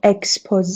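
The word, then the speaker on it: exposé: ببین چرا اینطوری تلفظ میشه؟ چون originally Frenchه. به خاطر این شکلی تلفظ میشه.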